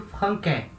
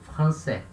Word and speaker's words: français: Sem a cedilha, eu leio franquais, né? Com a cedilha, eu leio français.